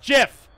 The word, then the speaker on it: GIF: like the p yes the actual creator of the file format pronounces it jiff the actual creator of